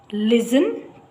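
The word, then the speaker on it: listen: teacher reeds A passage ಲಿಸನ್ ಟು ಇಟ್ ಇಲ್ಲಿ ಟಿ ಇದೆ ಆದ್ರೆ ಸೈಲೆಂಟ್ ಅದು ಲಿಸನ್ ಟು ಇಟ್ ಲಿಸನ್ ಅಂತ ಹೇಳ್ತಾ ಇಲ್ಲ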